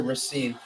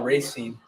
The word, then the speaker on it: Racine: We pronounce it Racine.